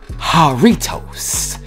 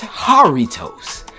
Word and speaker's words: Jarritos: But of course, when it comes to different cultures, the J is silent. So y'all told me it's a H in the place of the J. So it's Jarritos.